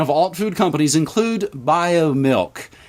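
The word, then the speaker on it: Biomilq: Now the pipeline of alt food companies include BioMilk, and it is spelled B-I-O-M-I-L-Q, and when I referenced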